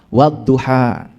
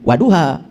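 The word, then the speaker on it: وَالضُّحَى: Wadduha ya. Cara bacanya begitu do ya. Jadi wadduha han-nya ha kecil. Wadduha itu bacanya dua harakat ya. Wah jangan salah. Itu ada tasdid. Jadi jangan waduha wadduha itu ada tasdid.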